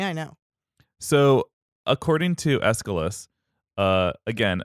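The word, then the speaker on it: Aeschylus: know so according to escalus uh again another name that has a CH in the middle of it that I've been pronouncing correctly and I should have known that CHS are a hard C but whatever escalus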